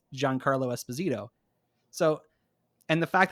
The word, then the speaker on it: Giancarlo: was with with mando's thing because frankly yeah juan carlo esposito or john carlo how do you say